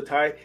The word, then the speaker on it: Tsai: We were just actually chatting before this call to, you know, like explain the pronunciation. So Tai is my name.